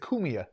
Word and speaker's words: Cumia: Wildlife being when you were kids with Anthony I'm saying it wrong. Cumia. Actually, he Cumia. pronounces it Cumia.